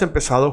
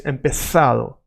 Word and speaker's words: empezado: See here, hemos empezado, hemos empezado justo a tiempo. Now you might be thinking there is the letter Z, Z, and you are saying sa like an S, because in Latin America